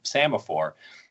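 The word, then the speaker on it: psammophore: It's actually spelled with a P, P-S, so semaphore.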